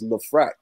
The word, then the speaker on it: LeFrak: ] changed somebody told me that we we mispronouncing it too it's not even left bracket it's the frack yeah it is it is the frack but